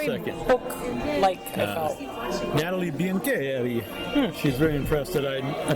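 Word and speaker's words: Biancheri: Nathalie Biancherri. She's very impressed that I pronounced her name correctly.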